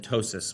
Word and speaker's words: ptosis: tearing, tumors, trauma, and ptosis, which is actually spelled with a P, but it sounds like a T, so it works.